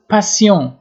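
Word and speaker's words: patient: و لو پاسیون، لو پاسیون، لو پاسیون، پاسیون مریض میگه، تی تلفظ نمیشه. اگر مؤنث باشه آخرش او اضافه میشه و پاسیونت خونده میشه.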